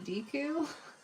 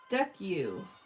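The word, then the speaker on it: Deku: I'm so glad I know how to say the name properly because I kept saying deu. Yes, this is was a request for uh from Jay's anime. Deck you.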